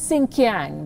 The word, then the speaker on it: Xinjiang: so we accept it did you notice the pronunciation he says sink yang that's what the uyghurs called the region before the communist party took control and gave it a chinese name xinjiang before the uyghurs were